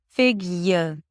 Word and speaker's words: figure: So although you don't have any indication in the spelling that there is a Y sound there because it's Y as in yes, there is no Y, but it's there in pronunciation. Listen. Figure. So it's a Y sound, awah, and an R.